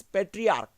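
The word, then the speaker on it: patriarch: और यहाँ पर पेट्रियार्क, दिस इज पेट्रियार्क, और यहाँ पर आ रही है के, पेट्रियार्क।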